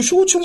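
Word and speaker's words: Souchong: 그래서 한국 발음으로는 소종이에요. 적을 소자에 종류종자. 소종인데 이것을 중국어로 읽으면 그 쇼총이 되는 것이죠.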